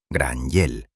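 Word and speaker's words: Gráinne Mhaol: Desde aquel día inolvidable, los rudos hombres del mar comenzaron a llamarla cariñosamente Gran Wail, pronunciado Granyell, un apodo legendario que significa literalmente Grace la Calva.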